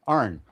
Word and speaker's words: Aron: The name Arn.